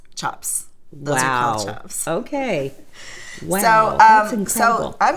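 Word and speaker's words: tjap: little something new today do you pronounce it Chop Chop like c-h-o-p but it's an l-t-j-a-p-s chops okay so um so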